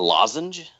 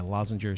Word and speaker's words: lozenge: A lozenge. Yeah. See, you say it right. Yeah, lozenger. See, it's a Midwest thing, dude. My family all said lozenger, and Cheryl was like, "What?"